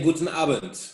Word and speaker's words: Guten Abend: In Germany, we say Guten Abend.